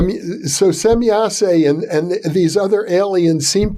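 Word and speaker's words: Semjase: Well, the instance that you just cited is fascinating because it suggests that and I understand you're pronouncing it correctly, or at least differently than I've ever heard, semyase. So semyase and these other aliens seem to know the future.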